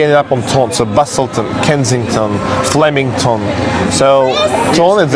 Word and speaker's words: Busselton: Actually, it is Busselton, but the way how they say it, Busselton, you know, the ton is coming from town.